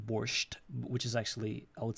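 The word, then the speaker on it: borscht: they spell it like borched which is actually I would say I don't know why they added t at the end because in our pronunciation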